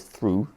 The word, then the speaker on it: through: So one is through, the vowel sounds like oo, and the other one ends in off, cough.